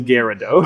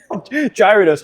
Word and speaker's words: Gyarados: It is Gyarados. I was I was seriously waiting for Gyro and I was so upset if that's I'm so glad you didn't say that. I give you a little Gyaradosa. Gear Gyarados makes more like I I'll accept Gyarados. I I I'll tell you you're wrong. I'll accept it. Gyros, I'll fight you. Gyridos, I will fight you. I will fight you for Gyro.